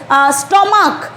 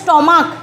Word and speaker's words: stomach: কয়ের মতো উচ্চারণ হয় যেমন ধরো স্টমাক, STOMACH, CH কিন্তু থাকছে, কিন্তু উচ্চারণ হচ্ছে স্টমাক, ক হচ্ছে শেষে উচ্চারণটা।